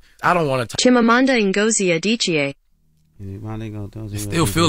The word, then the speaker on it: Chimamanda Ngozi Adichie: That's a quote from a Nigerian writer's name who I cannot pronounce. Let me say her name. Chimamanda Ngozi Adichie. Say it, play it one more time. Chimamanda Ngozi Adichie.